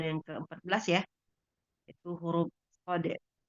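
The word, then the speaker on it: صاد: Hari ini kita pertemuan yang ke-14 ya, itu huruf Shode. Nama aslinya bacanya Shode. Kita sebutkan Shode. Ada kol-kolahnya ya, dal ya. Shode. Tapi huruf itu sendiri tidak berkol-kolah. Kalau dia dipanggil namanya, dia bacaannya Shode.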